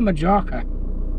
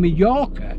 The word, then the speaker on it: Mallorca: I said, "Oh, you mean Mallorca?" "No, no, no." He said, "Majorca." I said, "No, it's Mallorca, mate." I said, "You don't pronounce the J, it's silent, it's Mallorca."